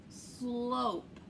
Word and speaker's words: slope: feed that pig but look what happens if you add the silent e or the magic e it turns into instead of sl it now is slope what is a slope